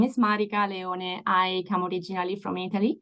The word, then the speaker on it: Marica Leone: to be here and so as said you pronounced very correctly my name is Marik Leon I come originally from Italy at the moment